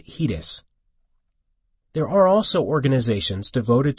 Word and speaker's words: HEDIS: data and information set hedis pronounced hedis there are also organizations